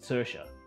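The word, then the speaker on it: Saoirse: if I could try, and it's Sersha. But it's not spelt as how you would think it is.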